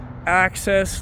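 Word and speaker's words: Axxess: the table with their axis line access like giving access but it's spelled a XX s is a budget oriented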